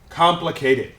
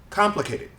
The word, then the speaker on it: complicated: complicated next one karate complicated karate so in this case the middle syllable becomes a schwas sound complicated we don't say complicated we say complicated okay because it's awah